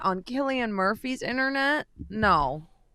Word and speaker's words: Cillian: that Irish accent on Cillian Murphy's internet? No. Is it Killian? Yeah. Oh my Yeah, god, I thought it hard was C. Cillian. Yeah, Cillian. Hard C.